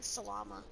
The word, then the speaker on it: Salama: It's basically salami, but you replace the I with an A.